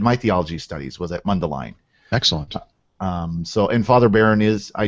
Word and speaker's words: Mundelein: Is that the way you pronounce it? Mundelein. Yeah, Mundelein.